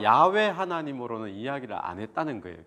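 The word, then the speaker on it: 야훼: 강조 하시고 또 그렇게 게시 하시겠다 말씀을 하실까요 야외 우리가 여호와 영어로는 여 호 와 발음이 지거든요 와 그런데 10월에 원으로 는 야외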